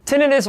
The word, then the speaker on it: tinnitus: One thing that really upsets individuals with tinnitus, including myself, is that there is no universal cure for this extremely common condition. Tinnitus or tinnitus, however you want to pronounce it, is fine with me, is otherwise known as